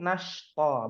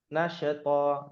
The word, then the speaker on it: نشطا: Ayat kedua shin nashto, bukan nasyato, nasyato, ya.